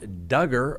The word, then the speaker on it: Duggar: the Microsoft executive slain Josh Duggar rhymes with hugger extends his stay in